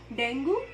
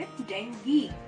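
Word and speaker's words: dengue: उसको डेंगू हो गया डेंगू डेंगू दोनों गलत उच्चारण है उसका सही उच्चारण है जाएंगी भी हां दोस्तों अब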